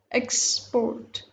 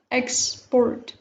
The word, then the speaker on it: export: Export, export. So this is noun, China.